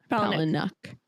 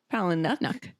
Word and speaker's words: Palahniuk: So author Chuck dang now pal paluck palucknuck has huh just basically get rid of the I is silent don't even pay attention to that I okay I